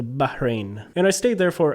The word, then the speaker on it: Bahrain: actually went to Bahrain there's an H in the middle so you have to pronounce that it's a Bahrain and I stayed there